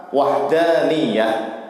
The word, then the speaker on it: Wahdaniyah: bisa kita simpulkan bahwa sifat Wahdaniyah bacanya Yang benar wahdani ya ditekan ya ya atau maha esa itu